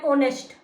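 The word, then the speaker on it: honest: जैसे कंसोनेंट की sound vowel की तरह जैसे एन और तो एच जो है इसमें साइलेंट है हम और बोलते हैं एन ऑनेस्ट तो इसलिए उसमें एन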